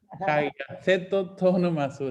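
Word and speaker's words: ἁγιασθήτω τὸ ὄνομά σου: La primera petición es hagiaceto to onomasu. En griego así se dice. Ahí se las puse yo. Hagiaceto to onomasu.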